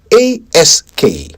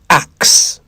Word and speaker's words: ask: A s k. The correct answer is ask, not axe. A s k. Ask. Not a x e. Axe.